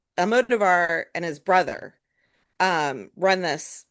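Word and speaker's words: Almodóvar: Almodovar. Thank you for the pronunciation.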